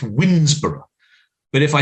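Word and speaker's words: Woodnesborough: I live in Kent, and there's a place not far from me that is unfortunately pronounced Winsborough.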